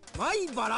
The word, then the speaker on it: 米原: 米原駅とここここ米原って読むんやなここははい